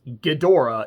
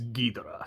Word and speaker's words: Ghidorah: And as I am pronouncing it, because from watching the film, it is not Ghidorah, it is Ghidorah.